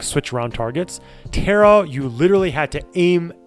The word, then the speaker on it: Tera: really liked the game Terra it's spelled t-e-r-a it's called Tara online I played it when